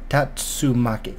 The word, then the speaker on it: Tatsumaki: power town Tamaki it I really hope I'm pronouncing that right got the pre asked am i Tatsu Maki yeah ha get it right the first time